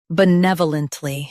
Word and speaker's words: benevolently: Benevolently. Both US and UK have the same pronunciation of this word. Stress nev. Keep b soft and lunt smooth.